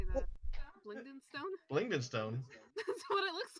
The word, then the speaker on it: Blingdenstone: Blingdenstone. That's what it looks like. That's what it's pronounced.